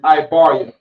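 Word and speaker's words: עברית: In Hebrew is Ibaria. Ibaria. Ibaria is how you say Hebrew.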